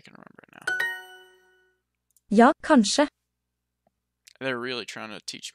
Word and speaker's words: kanskje: Oh, yeah, because suppe, that uses the KJ, and that's the sh, kanskje. Okay. Alright, I think I can remember it now. Ja, kanskje.